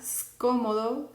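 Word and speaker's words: scomodo: Entonces, lo que vamos a hacer es pronunciarlo ska, sko, sku. ¿Ok? Ska, sko, sku. No lo vamos a pronunciar ska, esco, escu, porque no hay una E antes de la S. Como no hay una E, solamente se suena la S. Por eso vamos a pronunciar scala, scómodo, scudiero. ¿Ok?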